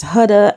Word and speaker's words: Huda: says her name is Huda and she's like, Huda coulda shoulda. Now that was funny to me because I'm from the Caribbean and we pronounce our words differently. So we say coulda, woulda, shoulda.